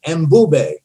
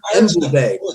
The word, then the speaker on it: Mbube: The Zulu term for lion is Mbube. M-B-U-B-A. Mbube.